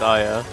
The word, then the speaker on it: Aya: Oh, is her name pronounced differently than what I'm saying? No, it's Aya.